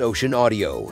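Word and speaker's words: ocenaudio: best free audacity alternative is ocean audio Optimus pronounced as ocean audio it's simple enough for new users and loaded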